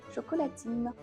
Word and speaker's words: chocolatine: faire plus court mais avec l'accent autrichien le D se prononce t résultat les Parisiens se mettent à dire à prononcer ce qu'ils entendent c'està-dire chocolatine donc je vous le donne